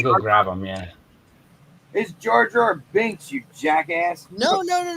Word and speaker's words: Jar Jar Binks: got it's beautiful are you gonna put your jar jar B in there jar jar B I keep saying